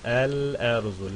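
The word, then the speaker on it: الأرز: Oysa kameri olduğu zaman el erzu. Lam okundu.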